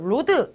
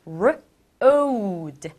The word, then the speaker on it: road: 친구들, 로드 아니고 road. o 발음을 해줘야 돼요.